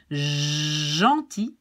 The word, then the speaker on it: gentil: Well, we pronounce it like J, like treasure, J, treasure, gentil, givre, and mange.